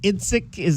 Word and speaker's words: Idzik: In terms of the play calling change, and with is it Brad Idzik? Am I pronouncing that correct? Yes, sir. Idzik is going to take